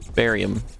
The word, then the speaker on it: barium: game barium based life barium no that's how it's pronounced barium you know like the joke what do you do what do you do with with it with the dead chemist you bury him oh i'm i'm going